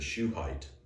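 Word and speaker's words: Shuhite: name was bildad the shoe height you know shoe height that's not very tall if you're just you know shoe height is spelled s-h-u-h-i-t-e not like a shoe but anyway sounded that's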